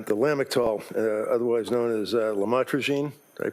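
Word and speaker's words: lamotrigine: about the u the lamel otherwise known as lamatroine. Did I pronounce that right? Lamotrogene.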